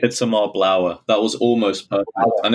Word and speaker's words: Itamar Blauer: And the name is Itamar Blauer. Is that correct? Itamar Blauer.